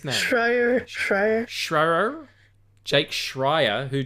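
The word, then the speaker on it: Schreier: Shrier Shrier.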